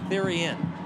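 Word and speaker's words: Therien: They said that River, though, doesn't really care how you pronounce it, but I'm told it is Therian. There's an I-E-N at the end.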